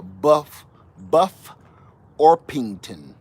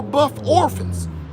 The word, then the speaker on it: Buff Orpington: So yeah, we gotta say, that's why I keep pronouncing like this: Buff Orpington, Buff Orpington, because I don't want you going in there and making a fool out of yourself like I did years ago.